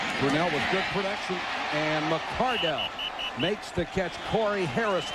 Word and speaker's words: McCardell: start pronouncing my son's name McCardell with emphasis on D-E-L-L." And they said, "Why didn't Keenan say anything?" He's too concerned about playing, but it is McCardell.